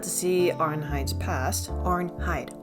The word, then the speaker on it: Arnheid: see arnh Hy's past AR hide AR hide two syllables okay keep saying RN hide but anyway so her